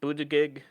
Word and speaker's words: Buttigieg: So Senator Elizabeth Warren, Senator Bernie Sanders, Pete Buttigieg. I can never pronounce it. Buttigieg, I think it is.